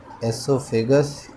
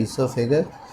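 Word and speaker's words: oesophagus: Spelling थोड़ी सी ओ इसका silent होता है, ठीक है, एसोफेगस या ओइसोफेगस आप कह लो, लेकिन एक्चुअल में होता है ईसोफेगस।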